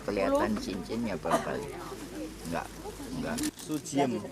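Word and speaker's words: Sudjiem: cincinnya bar enggak enggak sujiem ejaan lama ejaan lama ejaan lama su d i j e m sujiem terus 10 20 ada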